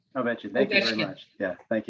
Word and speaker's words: Ovechkin: The title of those, again, are Taking the Ice, When You Least Expect It, and Alexander can you pronounce that last name? Ovechkin. Ovechkin.